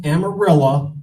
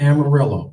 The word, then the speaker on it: Amarillo: Texas I told everybody it's pronounced amarilla not Amarillo okay so there I